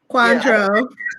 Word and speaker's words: Cointreau: I bought some, Jillian, how do you pronounce it? Cointreau.